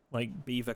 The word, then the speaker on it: Belvoir: I mean, if you can do somewhere like Beaver Castle, that's pretty good. It's spelt Belvoir. That's beautiful. Belvoir area is really nice.